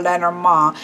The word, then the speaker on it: Lenormand: behind the origins of Lenormand or let our mom and yes I know it that's how you should pronounce it but I feel ridiculous